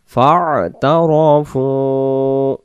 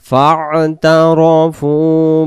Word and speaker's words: فاعترفوا: بسم الله الرحمن الرحيم فاعترفوا উচ্চারণটা আমরা ফা আইন জবর ফা ফা গলা লাগবে ফা'তারাফু বিযামবিহিম বিযামবিহিম বিযামবিহিম ফা'তারাফু বিযামবিহিম।